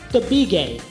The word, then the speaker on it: Tabigue: My last name is pronounced Tabigue. It's Filipino. A lot of people are like, Tabigue, oh wow, Filipino name. My mom gets so mad. She's like, it's not Tabigue, it's Tabigue. You have to pronounce it the Filipino way.